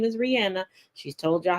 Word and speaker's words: Rihanna: And Rihanna, yes, her name is Rihanna. She's told y'all how to pronounce it multiple times.